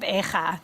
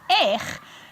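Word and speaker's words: איך: If you drop the hey, and it's just aleph yud chaf, it becomes eich, which is a very common word.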